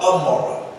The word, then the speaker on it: Gomorrah: Gomorrah, the other city that's spoken about in the Hebrew tongue, is called Amorah. The Greek pronounces Gomorrah, meaning submersion, and which